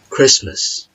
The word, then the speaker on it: Christmas: written in the world itself but for example Christmas Christmas or ballet ballet or listen or castle